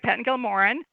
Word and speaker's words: Pettingill Moran: No, you're saying it right, Pettingill Moran.